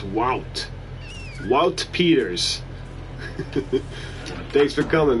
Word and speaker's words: Wout: And he told me it's like AU is in August, right? So it's Wout.